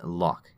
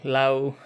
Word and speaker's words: Lough: uh i'll accept anything lao lo whatever it's fine but lock is how i would pronounce it yeah excellent i can't